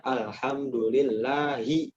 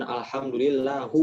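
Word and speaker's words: الحمد لله: Makanya di Al-Fatihah kita bacanya alhamdulillahi. Nah, bukan alhamdulillahu. Oh, itu salah, ya.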